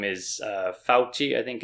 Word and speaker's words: Fauci: His name is Fauci, I think it's pronounced.